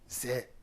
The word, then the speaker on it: Zè: Au lieu de Aïzé, c'est devenu Zé, Zé, Zé.